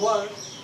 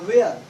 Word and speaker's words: were: हम में से कई लोग इसको गलत प्रोनाउंसिएट कर देते हैं, यानी कि मिसप्रोनाउंसिएट कर देते हैं। वाज और वेयर, ये गलत प्रोनाउंसिएशन है, दिस इज रॉन्ग प्रोनाउंसिएशन। हम लोग यहाँ पे इसको पढ़ेंगे words and वर्ड, words and वर्ड, यस।